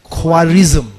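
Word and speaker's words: Khwarizmi: the very कासेप्ट of algebra इसकी नाम है just Google इट and then we will find क्वारिज्म क्वारिज्म मी जिसके ऊपर English spelling is just like that के एच डब्ल्यू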